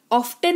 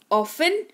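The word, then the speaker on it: often: एफ लगा हुआ हो तो टी साइलेंट होता है क्लियर ऑफ्टन नहीं ऑफेन सॉफ्टन नहीं सॉफ और लिस्टन नहीं लिसन दोनों ही स तीनों ही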